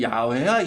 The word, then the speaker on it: 야훼: 여호와가 아니야. 이름이 원래 정확히 발음하면 야훼야 야훼.